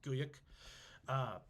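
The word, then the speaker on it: Güyük: and eventually his son Guyuk, this G-U with 2 dots over it, Y-U with an umlaut over it, and then a K. It's Guyuk.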